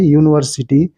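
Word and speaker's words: university: A union हो गया यूनिवर्सिटी यूनिवर्सिटी में यू वावेल है लेकिन इसके अंग्रेजी इसका उच्चारण यू से शुरू हो रहा है यूनिवर्सिटी तो इसलिए एक यूनिवर्सिटी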